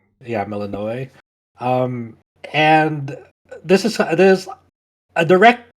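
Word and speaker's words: Melinoë: I forgot the way to pronounce her name. Melinoe. Yeah, Melinoe.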